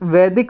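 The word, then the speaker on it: Veda: First heading डाल लो वेदा। इसे वेद बोलते हैं हिंदी में, और इंग्लिश में ए लगा देते हैं इसमें, लेकिन प्रोनाउंसिएशन वेद ही रहेगा, कोई वेदा भी बोल सकता है इसको।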